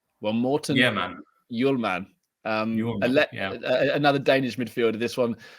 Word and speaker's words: Hjulmand: So but you don't speak the H, and you say Hjulmand. Okay. Hjulmand. Well, Morten. Yeah, man. Hjulmand.